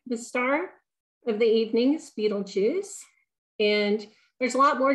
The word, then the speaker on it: Betelgeuse: armpit of Orion and it's typically pronounced Beetlejuice or betel juice um I'm going to